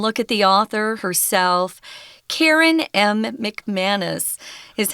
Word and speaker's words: McManus: Karen M. McManus is how you say her name.